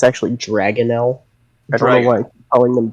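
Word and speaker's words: dragonnel: Michael cormic Michael corish and is a blue drael blue drael yes was the word it's a i Mis pronounced it's actually dragonell I know why calling them drael um but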